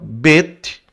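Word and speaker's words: בּ: Então, quando tem essa pontuação é bait, quando não possui nada aqui, ó, quando não possui nada, né, quando tá em branco, é veit. Aí você lê como V de viola, não é? V de viola. Vet. Então, bet vet, tá?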